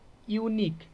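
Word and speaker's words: unique: तो क्या हो जाएगा यह ए हो जाएगा यूनिक यूनिक में क्या हो जाएगा ए हो जाएगा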